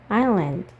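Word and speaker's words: island: 옷 트래시 캔 쓰레기통 아일랜드 여기서 s는 묵음이에요 동사가 없네요 자 한번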